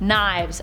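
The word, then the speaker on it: Nieves: sniper also joining this team is Dr Tannis knives spelled neaves but pronounced knives FYI she is bonded to the scoring symbiote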